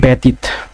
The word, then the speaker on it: ব্যতীত: প্রমিত উচ্চারণের ব্যতীত, ব্যতীতের উচ্চারণ হবে বয়িকা তয় হস্যি তওকার, ব্যতীত।